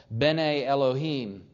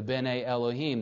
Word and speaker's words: Bene Elohim: If you want to study the Hebrew, it's called Bene Elohim. And I'll spell it.